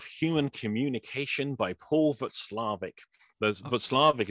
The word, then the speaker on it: Watzlawick: Václavic is spelled Watzlawick, which is how I always thought it was said.